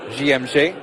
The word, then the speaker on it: JMG: though in the end say once you come through the famous JMG Academy or GMJ if you are using the French pronunciation of course founded by